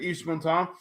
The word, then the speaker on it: Yves Montand: Is that how you pronounce it, Yves Montand?